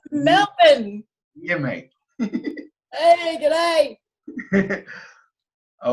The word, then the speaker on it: Melbourne: Yeah, It's Melbourne.